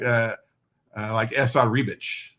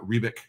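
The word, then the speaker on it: Esad Ribić: And I like Esad Rebic. I would read it Esad Rebic, but it's Rebic. It's Rebic? Oh, really? Oh my God! I've been wrong for years. Always Esad Rebic.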